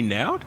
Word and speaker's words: Noud: But we welcome Now, if I mispronounce this, it's Noud? Correct. Oh, Like loud with an N.